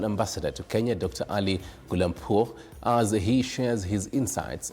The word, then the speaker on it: Gholampour: I hope I've pronounced your name correctly. Yes, it's correct. Gholampour.